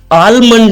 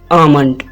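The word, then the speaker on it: almond: pronunciation है mayonnaise mayonnaise दोस्तों आलमंड नहीं इसको प्रोनाउंस करेंगे इसको प्रोनाउंस करेंगे आमंड आमंड आलमंड इसकी गलत प्रोनंसिएशन है और और सही प्रोनंसिएशन क्या है आमंड मेरे साथ कहे आमंड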